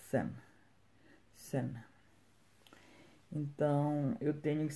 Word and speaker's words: Sun: Então, de primeira, se eu ler isso, eu vou ler sum. Mas está errado porque a pronúncia correta é sen.